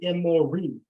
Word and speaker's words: Emori: The Hebrews call them the Emori, because that's how you say it in the plural in Hebrew. So if when you're reading the Bible in Hebrew and you want to say Amorite, the term is Emori.